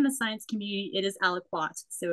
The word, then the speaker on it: Aliquot: a French word, but it certainly has a bit of a French feel to it. So however you pronounce it is fine, but I think in the science community, it is aliquot.